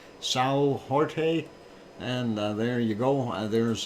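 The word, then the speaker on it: São Jorge: on the island of sail George or if you want to pronounce it in Portuguese Sao Jorge and there you go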